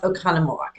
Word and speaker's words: Oconomowoc: Oconomowoc. Oconomowoc. I used to live there. I know you did. Huh. Yeah. But it's pronounced Oconomowoc.